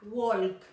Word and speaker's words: walk: No vayas a pronunciar nunca walk, porque está súper mal. Walk. Esa L no suena.